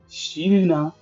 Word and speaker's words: Sylrna: of Empress Enya, and her name is not easy to pronounce in the English version, at least for me, it's spelled as Sylrna. Okay, the Chinese pronunciation is much easier, Sylrna.